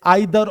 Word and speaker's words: either: वैसे इसको ईदर और नीदर नॉर, या फिर आप जो बोलते हैं ना ट्रेडिशनली बचपन से आइदर और नाइदर nor, that is also correct pronunciation, don't worry about that.